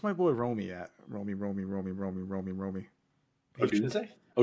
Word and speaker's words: Odunze: Odunze? Odunzie. Dunzi. That's what I usually say. How do you say it? Odunze.